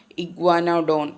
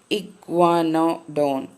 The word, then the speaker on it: iguanodon: I am reading the part, and grandma is now reading a part where they see a family of iguanodon.